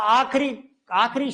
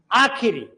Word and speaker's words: आखिरी: आखिरी दम तक मैं लड़ता रहा, आखिरी शब्द नहीं होता, आखिरी, ये आखिरी लड़की बची है शादी के लिए, ठीक है ना, और ये आखिरी रास्ता है। क्लियर है? तो ये आखिरी नहीं होता।